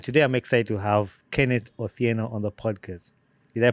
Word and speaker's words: Kenneth Otieno: or two and today I'm excited to have Kenneth Ora on the podcast did I pronounce the name right yes you did it